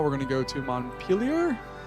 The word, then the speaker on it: Montpellier: Now we're going to go to Montpellier. I'm going to pronounce it like Vermont is pronounced.